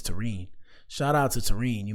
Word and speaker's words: Terrine: Her name is pronounced Tene. I didn't want to say it. I didn't want to say it wrong. I was saying Taran in my head. Taran sounded cool. But her name is Tarine.